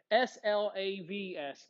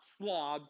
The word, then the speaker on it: Slavs: people the slobs okay s-l-a-v-s slavs not slobs like i don't pick up the stuff in my room slob slav who were the slobs